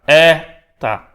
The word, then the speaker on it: eta: Estamos transliterando como um E com um chapéuzinho ali, com um acento circunflexo, mas com o som de E, fechado.